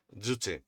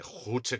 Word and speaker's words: Juche: Estoy harto de que la gente pronuncie Juche con J de jamón, la verdad. Ya sé que es difícil pronunciar el coreano. Llevo desde 2017 estudiando coreano. Es fácil pronunciar con la Y, por favor.